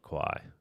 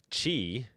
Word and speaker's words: Quai: built on top of Kai. Um, which is very cool. Oh, no. It might be It might be pronounced chi. I'm not sure. It's pronounced chi. You're right. It's pronounced chi.